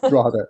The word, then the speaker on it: Drogheda: Ciarán, Cosmo Photography, and Drogheda. Is that right? Drogheda, yeah.